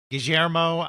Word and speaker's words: Guillermo: I have to say, Carl taught me how you pronounce that in Argentina with the ger on those double L's. Guillermo, that was one of